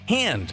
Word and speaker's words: Han: For instance, Lando says Han like hand instead of Han like Hans Gruber.